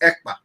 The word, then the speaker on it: Ekpa: And my name is not Akpan. My name is Ekpa. EKPA.